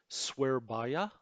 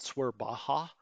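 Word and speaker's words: Surabaya: an audio clip of how you pronounce swear Baya it is not swear Baja which sounds very American I know we know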